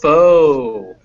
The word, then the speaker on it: focus: barely there focus yes i don't really like to pronounce that word because you know if i pronounce that in the wrong way it sounds like a bad word in english yes yeah always make sure it's foe remember by the way